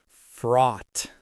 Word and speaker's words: fraught: It's a single syllable, but it feels heavy. Fraught. Fraught. It rhymes with caught or bought.